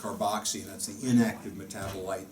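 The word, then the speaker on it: COOH: months in the carboxy, written C-O-O-H. It's pronounced carboxy, and that's the inactive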